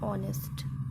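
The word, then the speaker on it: honest: तो ऑनेस्ट को हम क्या बोलते हैं? यच साइलेंट रहता है और ओ से बोलते हैं ऑनेस्ट।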